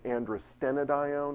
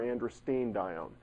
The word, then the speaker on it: androstenedione: You'll hear it pronounced androstenedione or androstenedione. from what I can tell, either one is correct.